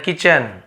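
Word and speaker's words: kitchen: द ingredients for द food are इन द किचन। हां। यहां पर भी टी को नहीं पढ़ना है।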